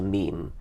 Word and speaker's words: meme: and just called it meme I wanted something that ideally should have rhymed with gene but it doesn't quite rhyme with gene it's a sort of thing but it's sort of